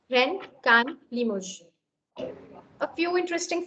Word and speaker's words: Rennes: So please don't mispronounce. Okay, Nantes, Rennes, Cannes, Limoges.